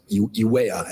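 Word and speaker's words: Juayúa: say, San Salvador to YUA, apologize if I'm not saying that right. I think it's Uea, actually. Uea, I believe it's pronounced. It's J-U-A something.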